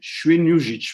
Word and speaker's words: Świnoujście: Ian can correct my pronunciation, but it's Świnoujście, right?